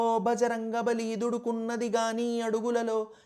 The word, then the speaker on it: బజరంగబలి: సరిలేరని దూకర ఆశయ సాధనలో నిజానికి బజరంగబలి అన్న పేరు వజ్రంగబలి నుంచి వచ్చింది. వజ్రం వంటి బలమైన దేహం కలవాడు అని మనం ఇందాక చెప్పుకున్నాం కదా నార్త్ ఇండియాలో వ కి బదులు బ వాడి అక్షరాల ఉచ్చారణలు విడదీసి ఇలా బజరంబలి అని అంటారు.